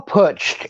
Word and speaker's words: putsch: It's the beer hall putsch. It's spelled Putch.